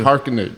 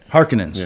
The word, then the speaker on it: Harkonnen: Harkonnen. Thank you. She's his daughter. So they don't let you know that till all that. So the Harkonnens, did I say it right? Got it. Harkonnens.